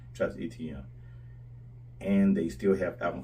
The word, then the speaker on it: Etienne: As he likes to be called, Travis Etienne. That's how they say his name is supposed to be pronounced, but I still say Travis Etienne.